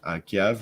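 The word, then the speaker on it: Kyiv: now Ukrainian video game development Studio headquartered in KV right is how you pronounce that yep with subsidiary offices in Dublin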